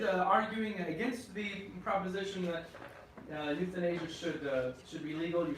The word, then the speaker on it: euthanasia: And by the way, it's pronounced like youth in Asia. That's how you pronounce that word. Crazy, yeah, just like young people in Asia. That's how you pronounce it.